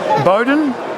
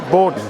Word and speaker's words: Bowden: Bowden? Is that how we pronounce it? Borden, sorry. No, you're all right.